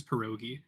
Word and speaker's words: pierogi: The actual pronunciation is pierogi.